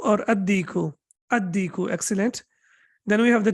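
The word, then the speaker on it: الديك: How should I pronounce it? Any idea? Al-baytu, excellent. Okay, what about dik? Al-diku or ad-diku? Ad-diku, excellent.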